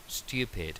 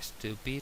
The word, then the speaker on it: stupid: Stupid, estúpido. Recordamos la S líquida aquí, no se dice stupid, sino stupid.